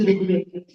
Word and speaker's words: Rigveda: They would pronounce it as if it is Ra and then Rukar. They didn't know even that there is a vowel called Ru, which is Rigveda.